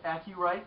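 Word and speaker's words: AcuRite: dollars and it's made by a company called a key right they spell it AC you are ite the humidity level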